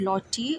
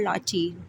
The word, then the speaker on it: Lottie: Lottie Lee is the full name, but right here, chapter 4 of A Little Princess titled Lottie or Lottie. Both pronunciations will be correct.